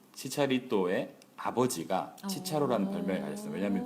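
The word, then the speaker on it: Chicharito: 보통 여기 붙으면 이제 발음이 치차리또 이렇게 됩니다.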